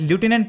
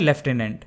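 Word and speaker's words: Lieutenant: इसमें कंफ्यूज होने की जरूरत नहीं है, बेसिकली अमेरिकन इंग्लिश में इसे एज लेफ्टिनेंट प्रोनाउंस किया जाता है और ब्रिटिश इंग्लिश में लेफ्टिनेंट, इसलिए सभी कॉमनवेल्थ कंट्रीज में इसे एज लेफ्टिनेंट प्रोनाउंस किया जाता है। एंड फॉर the same reason India में भी लेफ्टिनेंट ही बोला जाता है।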